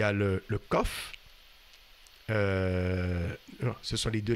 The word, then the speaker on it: Qof: en en araméen et en hébreu ça se prononce COF et en arabe aussi c'est la 19e lettre